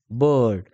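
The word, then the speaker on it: bird: जरी आपल्याला जस की उदाहरण आपल्याला आय बड म्हणजे उच्चार बघा बी आय आर डी बड या पद्धतीने उच्चार त्याचा प्रो प्रोनन्सिएशन मिळत असतो.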